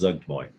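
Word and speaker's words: Zuggtmoy: Again, I looked up how to pronounce it because I wasn't sure. It's Zugtoy. Supposed to like slur it. Zugtoy. Zugmoy? Zugtmoy.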